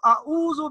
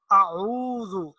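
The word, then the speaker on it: أعوذ: حمزہ کی آواز ہے، تو اس کو اعوذ باللہ نہیں پڑھیں گے بلکہ اس کو پڑھیں گے اعوذ، عین کا جو تلفظ ہے اس کو ذرا واضح کریں گے تاکہ حمزہ اور عین کے تلفظ میں واضح طور پر ادائیگی میں فرق نظر آئے۔ تو سب سے پہلی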